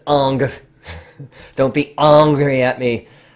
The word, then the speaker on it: Ingres: Jacques dominique Unger I know it looks like ingress its Unger don't be angry at me for the hair pronounce it let's say okay so on the